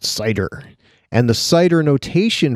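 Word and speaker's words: CIDR: known as site er classless inter-domain routing pronounced cider and the site or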